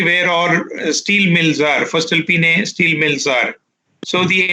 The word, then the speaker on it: Voestalpine: Is pronounced as Voestalpine.